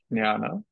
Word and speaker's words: jnana: When it's written jnana, do you actually pronounce it jnana with a G?